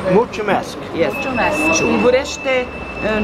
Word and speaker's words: Mulțumesc: How do you say thank you in Romanian? Mulțumesc. Mulțumesc.